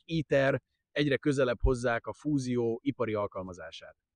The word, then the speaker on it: ITER: the south of France, ITER, or as we would say it phonetically, ETER, the industrial application of